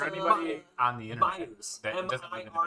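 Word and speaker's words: Meijer: no, you'd say it like a Myers. Midwestern would say.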